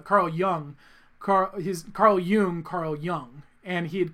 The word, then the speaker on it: Jung: so embarrassed i've been calling him carl young for like five years is his name really carl jung and i think it's pronounced it and i told him you know it doesn't matter it's okay if anything it makes me happy that you've mispronounced it because it means you've read his books you read young because